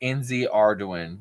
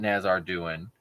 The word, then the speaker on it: nzardoin: It's NZ Arduin, not Nazar Duin. He just don't care about saying it right, I could say it how some other people say it.